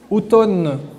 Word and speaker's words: automne: calcul mathématique calcul mental automne on n'entend pas le M mais il faut pas il ne faut pas l'oublier je pense que vous